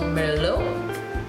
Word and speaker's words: Merlot: So in the beginning, I would have discussed the wine varietal Merlot, which is spelled M-E-R-L-O-T. Of course, we leave the T out and we say Merlot.